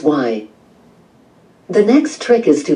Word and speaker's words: wai: You'll see this in the first part of Waikiki, where wai is the Hawaiian word for fresh water and is pronounced y.